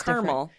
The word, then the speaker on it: caramel: Whereas So that's caramel, the emphasis on Yes. the first syllable.